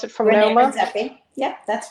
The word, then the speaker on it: Redzepi: How do you pronounce it, from Rene Noma? Redzepi.